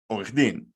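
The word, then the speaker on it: עורך דין: We don't say od, we say orech din.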